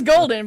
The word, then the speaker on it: Gowaldin: It is golden, but it is spelled Gowaldin.